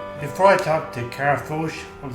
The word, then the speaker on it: Focht: Here with Kara, and your last name is Focht. Focht. Yeah, you pronounce it Foch. Foch. Yeah, that spelling doesn't help anyone out.